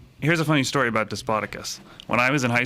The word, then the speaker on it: Despotakis: uh joining me is despoticus i pronounce that right tonight close close yes i'll give you uh a for effort despatakus i've always said to spadicus when i yes that's